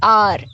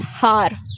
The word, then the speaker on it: hour: अगर हम कहते हैं आर, HOUR, ठीक है, तो इसको हम लोग प्रोनाउंस कैसे करते हैं? वी डू not pronounce it एज हार, नहीं ना, we pronounce it एज आर।